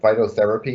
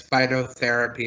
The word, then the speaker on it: Phytotherapy: Next up, can you tell me if I'm pronouncing this correctly, Mr. Potman? Phytotherapy Incorporated? That's correct, Mr. Chairman, and thank you. Yes, the licensee here is Phytotherapy Incorporated.